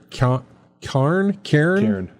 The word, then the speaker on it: Cairn: I'm going to mispronounce this next game. It's called Cairn. Cairn.